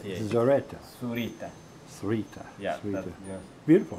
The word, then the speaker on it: Zurita: are what's your last name I'm surita how do you spell that please s u r i t a s u s u r i z z